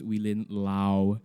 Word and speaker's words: Willin Low: sorry no no no everybody thinks it's low I'm very embarrassed everyone you learnt that it's pronounced wheel in Lao chef Lau how are